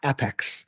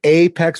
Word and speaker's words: APEX: the abbreviation Apex right this is not Apex this is Apex with a long a and I know Sonia's gonna laugh but yeah the whole phonetic here was started years ago talking about Apex the long a and that's that's our